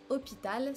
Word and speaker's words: hôpital: After "g", we have "h", is super easy in French because it's just absent, you do not pronounce it at all, it's silent.